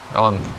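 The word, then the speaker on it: Å: в мене дроти тут читається як о буква а читається як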